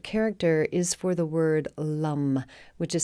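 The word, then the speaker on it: Lam: is for the word Lum which is spelled l-a-m but pronounced more like l-u-h-m so Lum and that is the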